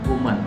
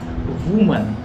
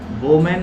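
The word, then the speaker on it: woman: वुमन अपने पत्नी से बोल रहा है। द वुमन हु was preparing super replied yes God willing. The वुमन, वुमन इसका सही उच्चारण है वुमन, वोमैन नहीं बल्कि वुमन।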